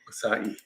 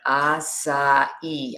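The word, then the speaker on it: açaí: Acai, yeah. Acai. I actually went on the web and said, pronounce this name, this word. And I always thought it was acai, but it's acai.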